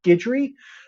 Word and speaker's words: Guidry: if you look at my last name is Guidry, Guidry. It's a French name. It's a Cajun name.